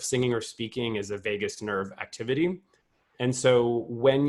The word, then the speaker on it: vagus: don't really know that it's spelled v-a-g-u-s not like Las Vegas but uh vagus in in Latin which means Wanderer